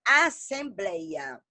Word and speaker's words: assembleia: Temos a palavra assembleia. Eu quero que vocês falem junto com a Martelo. Assembleia. Ela forma aqui, ó, o blei, né? Forma um ditongo aberto. O som é aberto, não fala assembleia.